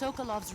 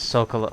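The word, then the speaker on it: Sokolov: one now I'm just tsoukalos research facility it's pronounced Sokol okay okay drift away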